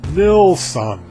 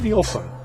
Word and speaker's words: Nilsson: Well, do your research, because that's the real Swedish name. That's the name on his birth certificate. And it's pronounced Nilsson, okay? Not Nielsen.